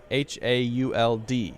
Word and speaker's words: haul: How do you pronounce the word haul and H-A-U-L-D? I've never heard of the word H-A-U-L-T in my whole life. But H-A-U-L I am familiar with, Hi. and that is pronounced haul.